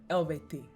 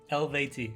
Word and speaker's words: Eluveitie: He says it's pronounced ELUVEITIE. ELUVEITIE.